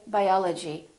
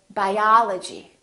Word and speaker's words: biology: We don't say biology, we say biology, biology.